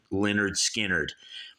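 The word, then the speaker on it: Lynyrd Skynyrd: __ ] skinnard debut album pronounced Leonard skinnard and when you spell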